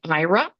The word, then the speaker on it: Aira: Next up is the IRA platform. That's spelled AIRA. And IRA, including Project Astra, connects